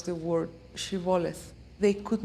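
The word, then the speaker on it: shibboleth: were crossing the river they would request to pronounce the word shivoleth they could not pronounce it like that and they pronounced it siboleth at that point the bible described a huge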